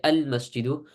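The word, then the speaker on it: المسجد: Either you pronounce the alif lam, so you say al-masjidu or al-qamaru, or you don't, and you pronounce it, for example, like ash-shamsu.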